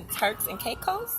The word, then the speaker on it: Turks and Caicos: So I did some research on you, and I see that you have been to Turks and Caicos.